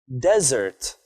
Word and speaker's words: desert: usually hot and dry you put the stress on the first syllable of the word but what if I